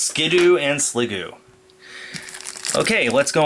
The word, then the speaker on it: Skiddo: Teddiursa, Skidoo, it's spelt Skiddo, it's pronounced Skidoo.